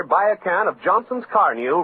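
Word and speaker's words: Carnu: Keep it new looking with Johnson's Car New, the sensational auto polish that both cleans and wax polishes with one application.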